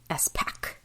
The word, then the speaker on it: Espach: yeah and the Google says it's an aggressive esack esack yeah so this book was super popular